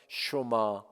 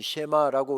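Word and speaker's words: שְׁמַע: 쇼마 이시로에, 이스라엘아 들으라. 흔히 쉐마라고 우리가 하는 이 원어의 본래 발음은 쇼마이지요.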